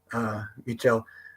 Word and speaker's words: Michel: Michel, which I think I was calling him Michel for years, but it's actually how Costa pronounces it. Michel.